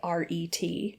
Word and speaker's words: Taweret: Taweret, okay. I'm guessing that's how you pronounce it. It's Tawaret. Yeah.